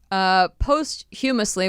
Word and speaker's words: posthumously: Posthumously, which means after you've passed away. Posthumously. Posthumously? Yep. Is that really how you pronounce it?